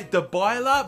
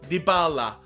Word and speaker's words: Dybala: is how to pronounce I used to say dbaa but everyone's telling me now it's dybala dybala all right so marata